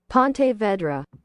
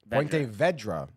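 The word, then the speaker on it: Ponte Vedra: get lady back let's see what she says Pon Vedra Pon Vedra pon pon VRA pontoon Pon Vedra Pon Vedra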